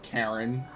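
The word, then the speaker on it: Charon: I do, yes, but Crest of Karen. hold on a moment. That's How did you know the that? H is silent.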